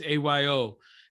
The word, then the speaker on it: Ayo: the first appearance of io or ayo i don't know how her pronunciation is it's ayo and she is one